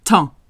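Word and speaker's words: temps: don't know two letters Tom you do not hear the M you do not hear the p and you do not hear the s t e m has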